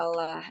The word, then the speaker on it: الله: Mumtaz ya, Allah barik ya. Kemudian di bacaan Allah itu lafzul jalalah dan sebelumnya ada dhammah dan maka bacanya tebal ya, tafkhim.